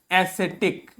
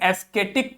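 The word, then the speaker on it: ascetic: देखिए इस शब्द को यह शब्द आपको दिखने में आप हो सकता है इसे एस्थेटिक पढ़ जाए हो सकता है इसे आप एस्थेटिक पढ़ जाएं बट ये एस्थेटिक नहीं लिखा है ये क्या लिखा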